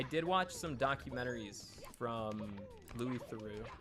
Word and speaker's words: Louis Theroux: documentaries from Louis Theroux you guys always say I pronounced his name wrong but that's how the dude himself pronounces his name I've seen like every documentary that guy's done you both say it wrong take it up with him the episode that I